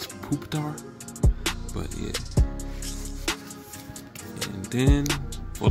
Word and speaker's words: Pupitar: I can never pronounce it. It's Pupitar.